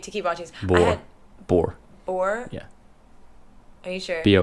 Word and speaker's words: Bohr: Bohr? Yeah. Are you sure? Bohr. Yeah, Bohr. I'm pretty sure. Anyways. And pronounce that guy's name.